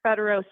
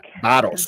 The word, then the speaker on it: Barros: Barros, don't say Barros because you're calling him a donkey. Don't do that. Oh, It's sorry. Barros. Tell me how to say it. Sorry. Barros. Barros. Barros. Okay. Barros. Barros. Barros. Barros. Roll the tongue. Barros. Roll the tongue at Nancy Joe. Barros. Barros. Like arroz con pollo, but with a B in front.